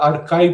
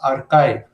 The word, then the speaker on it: arXiv: I have found out that these should be pronounced as archive.